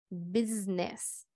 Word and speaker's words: business: pronunciación con z también la palabra negocio igual manera tiene ese pero vamos a pronunciar con business y esta esta me